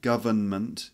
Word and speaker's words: government: with a little n government you see that here that government or government government or government three syllables not four so don't say government go it's not government it's government or government okay for example